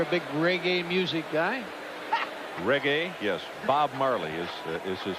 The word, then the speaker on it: reggae: Reggae? Yes. Bob Marley is his father. Why are you guys laughing? I knew how to say it, too. Reggae. You said it like you thought it was Italian food.